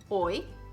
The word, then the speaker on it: hoy: When it appears alone by itself, or when it's at the end of the word, it's pronounced like a pure I vowel. I, like in the words hoy, ley, rey, or the